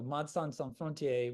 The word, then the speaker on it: Médecins Sans Frontières: keep using MSF, so Médecins Sans Frontières, which is the French pronunciation.